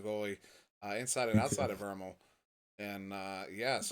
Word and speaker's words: VRML: inside and outside of Vermal. And yes, it's credit to Andy W for introducing me to the proper pronunciation of VRML. It is Vermal, of course.